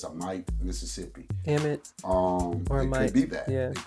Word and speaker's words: Amite: I'll spell it out for you. A M I T E and I pronounce it as a Knight, Mississippi.